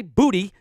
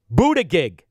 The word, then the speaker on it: Buttigieg: If you're for a fraud like Buttigieg, and I don't know what his name is, but it's spelled Boot-I-Gig. I didn't say booty, Buttigieg.